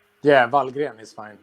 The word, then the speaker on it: Wallgren: Oggi siamo in compagnia di un ospite veramente speciale, Jocke Wallgren, how do you pronounce? Yeah, Wallgren is fine. Wallgren, Jocke Wallgren degli Amon Amarth.